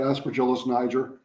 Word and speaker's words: Aspergillus niger: next 15 minutes, hopefully I pronounce this correctly, Aspergillus niger. Yes, good morning. So, not Aspergillus niger. And he did give me a thumbs up, I did pronounce it correctly.